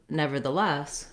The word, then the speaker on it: nevertheless: And when we put them together into nevertheless, we stress on the last syllable, less. So the first parts of the word will be fast, and then the less will have a clear vowel and it will be held longer.